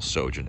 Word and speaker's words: Sjogin: do is is google sojourn s j o g i n um the j is silent like the p in swimming i couldn't resist that